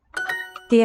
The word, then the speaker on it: det: D has a silent T.